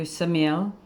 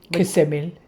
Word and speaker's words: Ksamil: Then we went to Samil. Ksamil. All right. We were corrected pretty early on. It's spelled k s a m i l and